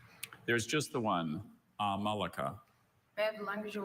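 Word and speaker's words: amalaka: Are there any alternate pronunciations? There's just the one. Amalika.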